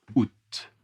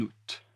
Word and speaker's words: août: On part en vacances le 12 août. On part en vacances le 12 août, mais on part en vacances en août. On part en vacances en août. Attention la liaison en août.